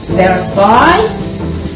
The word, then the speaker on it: Versailles: side in France so we're calling this Trump verisai side in the French pronunciation and so there's going